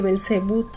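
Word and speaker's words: Belcebú: viene este nombre de Belcebut, que déjame decirte que yo me confundo, lo he visto escrito como Belcebob, como Belcebut, como belcebu. con acento en la U y ya.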